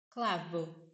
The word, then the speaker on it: clavo: O V ele muit das vezes vai ter som de B de bola ou um V mais fraco. Clavo.